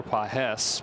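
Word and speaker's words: Pagés: Pedro has the emphasis over the second syllable. Andy doesn't have any.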